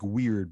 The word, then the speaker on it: weird: they're called um the the weird sisters it's spelled like weird but it's pronounced weird which is actually an